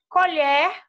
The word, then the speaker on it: colher: com o aberto né quando a gente pronuncia com aberto é um talher que a gente usa e colher com esse ó fechado na primeira sílaba é o aço de que de lá né escolher os alimentos então esse é o